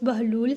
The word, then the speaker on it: بہلول: سے واقف ہوں گے۔ بہلول کی بے پرپیش اور ہے پر جزم ہے، جس کی وجہ سے اس کا اصل تلفظ بہلول ہے، جس کے معنی ہنسمکھ،